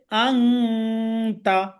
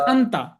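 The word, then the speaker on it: أنت: আং তা, বলেন তো সবাই। আং তা। এখানে লেখা আছে আন্তা, আন্তা পড়া যাবে?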